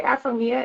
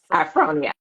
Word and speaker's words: Afonia: what's next that you I always want to say afia and like that's a can you say that one more time so I can pronounce it 100% afonia um what are other